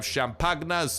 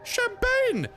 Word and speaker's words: champagne: And with that, we have gotten the 5 beers and the 5 champagnas that this location has to offer. But star, it's not pronounced champagna. It's pronounced champagne.